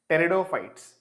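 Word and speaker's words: pteridophytes: See the name starts with the letter P but we pronounce it as teridopites.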